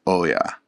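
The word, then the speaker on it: 大家: And in Japanese, this has multiple meanings and pronunciation appearing in words for landlord, in which case it's pronounced oya.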